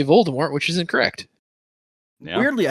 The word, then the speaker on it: Voldemort: but originally Voldemort was supposed to be pronounced Voldemort, and in the audiobooks, I think that is the way they pronounce it still.